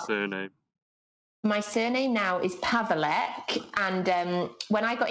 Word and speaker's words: Paweleck: it's not like anymore so how do i pronounce your surname my surname now is pavelk and um when i got engaged to my